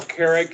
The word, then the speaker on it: Kerrick: My name is Carl Carrick. It's spelled Kerrick.